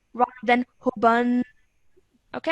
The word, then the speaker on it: حبا: I'm going to say hubban rather than hubban. Okay, I'm joining the ha to the ba with force.